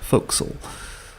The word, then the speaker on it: forecastle: two so reveal the fo'c'sle deck things I learned from Gilbert and Sullivan although this is spelled forecastle it is pronounced fo'c'sle and the weather deck